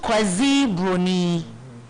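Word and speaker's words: Kwasi Broni: to call the Europeans Casa brony pronounced quasi Bruni which literally means Sunday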